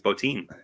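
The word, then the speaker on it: Bottin: Is it Bob Botin or Bob Botin? I think it's Botin.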